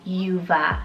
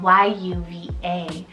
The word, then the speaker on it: Yuva: For Y, very soft, I have Yuva, spelled Y-U-V-A, Yuva.